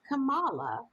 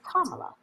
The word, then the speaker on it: Kamala: even for our critics it's not kamala it's kamala actually and mike wolf just